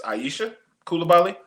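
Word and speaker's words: Aicha Coulibaly: Um, Maddie Westb and I don't want to butcher her name, but I would assume that it's Aisha Kulabali. Yeah, you got it.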